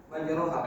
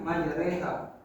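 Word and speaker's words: مجراها: Jadi seperti contoh pada Quran surat Hud ayat 41 pada lafaz majroha. Nah, itu dibacanya majreha karena imalah.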